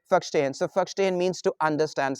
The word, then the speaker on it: verstehen: It's a verstehen, but in Germany we simply say verstehen.